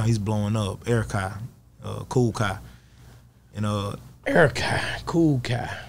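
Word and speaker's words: Kool Kiy: Matter of fact, it's Cool Kai. K-O-O-L-K-I-Y. Cool Kai. K-I-Y. That's different. K-I-Y.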